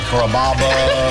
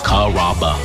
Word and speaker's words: Carrabba: You know, Carrabba, Carababa, Caramba. It's a really easy name to pronounce. It's Carrabba.